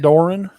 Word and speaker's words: Doeren: nobody let anybody left there I know David Doran yes that's got be right we looked at the pronunciation that's all that's where I have Greg call Greg Doran I mean David Doran yeah well they've had